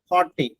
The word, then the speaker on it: haughty: അതിന്റെ സിനണിംസ് ആയിട്ട് ഉപയോഗിക്കുന്ന ഒരു വേർഡാണ് ഒന്ന് ഹോട്ടി. ശരി, HAUGHTY. HAUGHTY, ഹോട്ടി. മറ്റൊന്ന് പ്രിസംപ്റ്റസ്, PRESUMPTUOUS. പ്രിസംപ്റ്റസ് എന്നാണ് അതിന്റെ ഉച്ചാരണം.